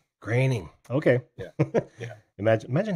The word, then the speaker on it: Groening: Right, and I still have trouble pronouncing Matt's last name. Groening.